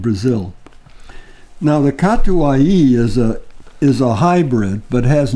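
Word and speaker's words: Catuaí: Oh, yes, this is a natural yellow Katai. No, not Catuai. Bourbon. Yeah. Catuai. Catuai. Yeah. All the letters are pronounced.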